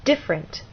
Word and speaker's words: different: And in this last word, again, you'll either look in a dictionary or hear people speak, and they'll say different, stress on the first syllable.